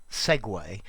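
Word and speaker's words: segue: called intrinsically and vocumpra i speak italian so i pronounce it segway as it should be and it means follow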